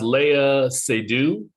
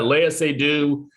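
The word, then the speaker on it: Léa Seydoux: think the um uh her name is pronounced leia sedu yeah leia say do um i i don't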